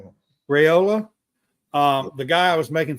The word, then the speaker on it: Raiola: Raiola, yeah. Raiola.